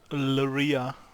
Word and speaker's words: Luria: Luria. Basically Maria with an L.